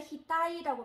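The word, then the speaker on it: ひたい: 그래서 머리라고 발음할 때, 이마라고 발음할 때는 히타이라고 발음을 해주시고요.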